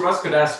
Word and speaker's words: Ross Cadastre: guys welcome to uh podcast my guess is ross could ask um is that how you pronounce it russ could ask right yes you got it you nailed it